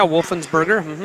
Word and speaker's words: Wolfensberger: Levi Wolfensberger, match number 29. Did I pronounce that right, Steve? Yeah, Wolfensberger. Yep, that's right.